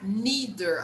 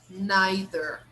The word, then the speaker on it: neither: united states they pronounce neither neither okay they don't even pronounce the final r here in england the r in the end is not pronounced they say neither neither